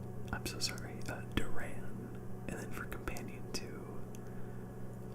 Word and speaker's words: Duran: a side character let's go ahead and pick Darren I'm so sorry that Duran and then for companion to I did get